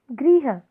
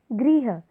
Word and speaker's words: गृह: बैल यानी पशु ग्रह गृह यदि आप उच्चारण पर भी ध्यान देंगे तो इसमें काफी अंतर है ग्रह गृह गृह का मतलब हो